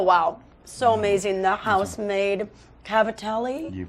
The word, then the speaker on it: cavatelli: by today oh wow so amazing the housemade Cavatelli you pronounced it correctly okay I learned something new